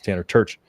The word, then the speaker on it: Tanner Terch: everybody in the comments it's Tanner church not turch ITP it trips people